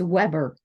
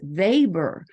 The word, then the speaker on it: Weber: and like for example if they would say um uh Max Weber right away I knew that they were novices because I knew they had mispronounced that sociologist name it's Max vber the W is actually a v in that case so um I knew